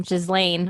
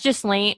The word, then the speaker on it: Ghislaine: Ghislaine. I never say her name right. Maxwell. Giselle. I don't know. I think it's Ghislaine. It's something weird because she's French.